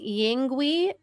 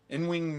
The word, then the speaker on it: Yngwie: I don't think you pronounce the Y. Yngwie Malmsteen, I'm pretty sure.